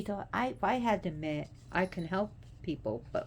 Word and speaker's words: me: And the me, which is spelled M-E but pronounced me, was originally Enki's.